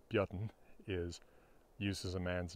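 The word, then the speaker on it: Björn: in Old Norse names the simple name Bjorn modern isic pronunciation Bon is uses a man's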